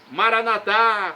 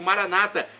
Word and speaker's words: Maranata: E agora eu clamo, Maranatá, como dizemos nós católicos, ou Maranata, como dizem nossos irmãos separados, os evangélicos ou protestantes. O significado é o mesmo, nas duas pronúncias: vinde, Senhor Jesus.